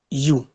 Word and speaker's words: ewe: It is white U, but not away. White U.